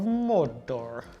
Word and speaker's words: Mordor: Okay, now we move on to the Legions of Mordor. Roll your R's, James. There we go. Mordor.